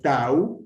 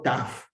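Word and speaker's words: ταῦ: Atención que es tau, en griego antiguo, taf, en griego moderno.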